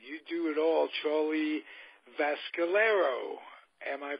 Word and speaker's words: Vascellaro: You do it all, Charlie Vascellaro. Am I pronouncing that correctly? The C is a little softer. It's just Vascellaro, but you're close enough.